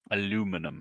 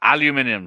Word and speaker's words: aluminium: Aluminum. Yes, aluminium, sorry. I'll say it correctly.